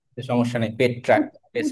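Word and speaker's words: Petrarch: ইতালির পেত্রাক।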